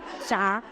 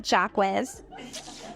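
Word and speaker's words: Jacques: to find a reason to talk about French pronunciations like have you ever heard the song FR Jaca Jack not jacz so so don't do it when you're it's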